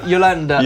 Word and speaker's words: Jolanda: Jolanda? Yolanda. Yolanda Neff. Yolanda Neff, Yeah.